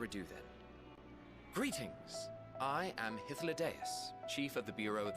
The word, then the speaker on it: Hythlodaeus: I am Hythlodaeus, Chief of the Bureau of the Architect. Wow. Hythlodaeus. That's a correct pronunciation.